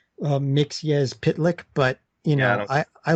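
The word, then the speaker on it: Mxyzptlk: like leave a comment is I know it's pronounced mix yes pit lick but you know I I learned a new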